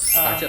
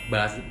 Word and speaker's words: BaZi: Pace atau bazi. Orang mungkin baca tulisannya bazi gitu ya. Iya. Tapi bacanya pace.